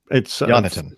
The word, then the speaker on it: Yonatan: Yeah, it's Yonatan. Same as Jonathan, but Yonatan.